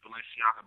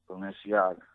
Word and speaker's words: Balenciaga: You can go on Spinnerella, search Balenciaga Banks, man.